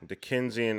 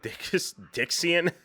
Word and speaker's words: Dickensian: Dickensian aspect. That's how you say it. What did I call it? Dixian?